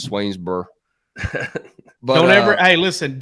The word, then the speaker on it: Swainsboro: Demello out of Swainsboro you don't really pronounce that o in Swainsboro I don't even think you pronounce the final letters just swainsbur but don't ever Hey